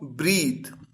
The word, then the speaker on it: breathe: ए टी एच ई पहला word ब्रेथ किस तरह से प्रोनाउंस किया जाएगा ब्रेथ और दूसरा वर्ड किस तरह से प्रोनाउंस करेंगे आप ब्रीद पहला वर्ड है नाउन